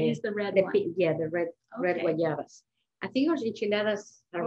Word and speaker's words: guayaba: I think someone's asking you how you pronounce it again. Guayaba.